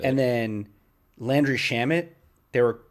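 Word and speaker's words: Shamet: landry shamit they were they were pronouncing it probably it was no it was worse it was worse chamele there's i was shamed or i don't know something crazy and i was just like it's landry shamit it's so easy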